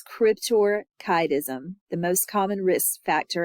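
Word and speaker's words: cryptorchidism: um small male children crypto cism is the most Cryptor kism I'm sorry it's it's very easy to mispronounce that word but it's Cryptor kism the most common risk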